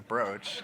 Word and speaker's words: brooch: of people comment say you idiot it's a brooch is that and I had people say oh is it bro I've been mispronouncing it this whole time but then I